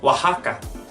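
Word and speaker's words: Oaxaca: have other places like another place in Mexico wah Hakka Hakka we could take a look at names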